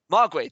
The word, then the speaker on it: Mogwai: It was like kind of like a progressive Mogwai? breaks. Mogwai, thank you.